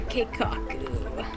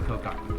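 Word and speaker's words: 計画: I say it wrong. Like it- All according to Keikaku. I like Kokaku better. It's not Kokaku though.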